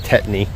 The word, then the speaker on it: tetany: Cattle can get a situation called, it's pronounced tetany, where their bodies don't absorb the magnesium.